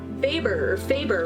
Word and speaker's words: Weber: It's more like Faber.